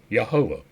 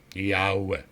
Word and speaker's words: Yahweh: God is written thus is pronounced yahovah no it's not no it's not it's yah Yahweh that is that's how it's pronounced yah that's how it's really pronounced it is a bunch of vowels strung together and does not actually form a word it is not yahovah the first letter is